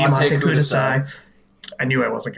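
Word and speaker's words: Matte Kudasai: This song also kind of reminds me, here I go with the pronunciation, kind of reminds me of that Matakadus, thank you, Mate Mate Kudasai.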